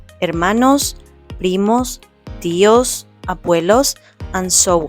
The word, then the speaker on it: hermano: Remember the letter H is silent. So we will say mano mana.